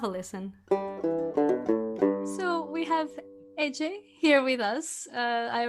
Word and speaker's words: Ece: entrepreneurs alike have a listen so we have AJ here with us uh I already asked how to pronounce the name just to be sure that